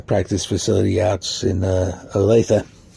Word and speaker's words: Olathe: And they'll have their uh uh practice facility out in uh Olathe. It's pronounced Alethea, folks.